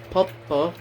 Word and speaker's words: Poppo: It's Japanese. The Japanese would pronounce it Poppo.